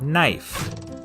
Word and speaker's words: knife: is in the word knife in Middle English it was pronounced knef but after The Vowel Shift the K became silent and the E turned